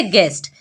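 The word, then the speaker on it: guess: silent तो पढ़ेंगे गेस्ट यहां पढ़ते हैं गेस गेस क्यों पढ़ते हैं क्योंकि यूजी के बाद है और वॉवेल से पहले है तो यू होगा साइलेंट तो पढ़ेंगे गेस यहां पर टंग में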